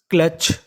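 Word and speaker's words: clutch: CLU, इसे पढ़ेंगे क्ला। क्या पढ़ेंगे? क्ला। यहाँ पे जो हमारा यू है वो हमारा साइलेंट रहेगा। और यहाँ पे लिखा है TCH। TCH को भी हम लोग क्या पढ़ते थे? चा। तो मीनिंग बनी क्लच।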